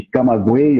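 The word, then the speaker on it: Camagüey: de Ciências Médicas eh de caguei eu acho que a pronúncia é essa né caguei em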